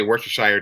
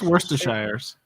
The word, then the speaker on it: Worcestershire: this sheer now like you drop a bunch of syllables it's just like the beginning and the ends it's like we're sure oh like worcester pennsylvania yeah yeah it's worcestershire i